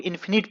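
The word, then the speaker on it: infinite: तो दोस्तों, यहां पर इसे इन्फिनिट पढ़ेंगे और जब आई एन नहीं रहेगा तब इसे फाइनाइट पढ़ेंगे। और जैसे इसमें आई एन लग जाएगा यानी इन प्रीफिक्स, तो इसे हम लोग इन्फिनिट पढ़ेंगे। यानी कि दोस्तों, प्रोनाउंसिएशन चेंज हो जाता है।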